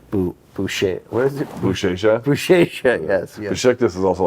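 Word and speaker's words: Beşiktaş: It's actually pronounced Boucher. What is it? Bouchecha? Bouchecha, yes.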